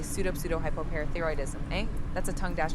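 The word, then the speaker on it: pseudohypoparathyroidism: With a hint of pronunciation and a touch of patience, you want me to say pseudo-hypoparathyroidism, eh? That's a tongue dash twister of a word. For pronunciation's sake, it's usually broken down into smaller parts as pseudo-hypo-parathyroidism.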